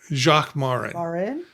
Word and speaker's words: Jacques Marin: Jacques Marin.